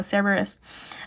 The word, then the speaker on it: Cerberus: I want to pronounce this word Cerberus in the Latin pronunciation so bad, but we're not speaking Latin. So Cerberus, in a short but bloody battle.